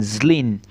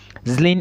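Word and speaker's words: Zlín: Thomas B University and it is located in Zin Zen is spelled z l i n I want to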